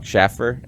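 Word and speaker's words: Shaffer: Schaffer. Am I saying that right? Anthony Schaefer, yes. Schaefer, that's what it is.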